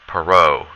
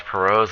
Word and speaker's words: Perot: someone named H Ross Perot it's a French name that's why we don't pronounce the T so H Ross Perot's and American businessmen he